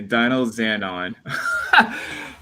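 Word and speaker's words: Dynazenon: Okay, Dino Xanon. Oh my god, this is the one thing I'm pretty bad at is pronouncing like the Japanese names.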